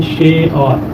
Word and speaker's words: شعار: تو اکثر طلباء جو غلط پڑھتے ہیں شعار پڑھتے ہیں، تو اس کا جو صحیح تلفظ ہے شعار ہے، یہ نوٹ کر لیں شعار، زبر الف آ رے معقوف اوپر جگہ مارتے ہیں شعار۔ تو آگے جو ہے